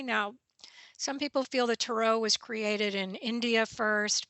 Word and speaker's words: tarot: to say that word is it tarot or tarot well I've noticed that people from the East Coast say tarot I say Tarot because it sounds more French to me now some